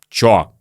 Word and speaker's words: что: Вы знаете, что очень часто мы вообще произносим «что» как «чё».